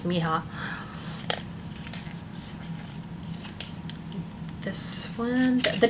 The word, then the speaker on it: mija: mija that went above I say it's pronounced mihots m-i-j-a could be my job but I'm pretty sure it's Miha this one the names